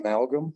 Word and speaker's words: Amalgam: how do you pronounce it? Amalgam.